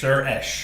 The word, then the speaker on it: Suresh: Suresh. Suresh. That's what I said, isn't it? Like Sir and then Esh. Suresh.